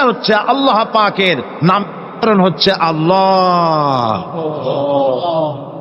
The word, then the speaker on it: আল্লাহ: আল্লাহ পাকের উচ্চারণটা হচ্ছে আল্লাহ পাকের নাম হচ্ছে আল্লাহ মুখটা একটু গোল হয়ে যাবে বলেন আল্লাহ আল্লাহ সুবহান আল্লাহ পৃথিবীতে বিভিন্ন